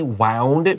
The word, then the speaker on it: wound: O U n d wound means Juan this is wounded with a long double o like moon you should write down